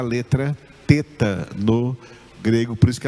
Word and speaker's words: teta: hebraico é a letra teta. Teta. Teta. Eu já vi pessoas falando teta, mas a pronúncia correta no grego é teta, mesmo o nome dessa letra é a letra teta.